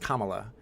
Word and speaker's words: Kamala: know Kamala no Kamala I know it's pronounced Kamala but I watch WWF wrestling growing up I watch the Ugandan Giant growing up so I pronounce it Camala like the WWF wrestler and I'm sorry if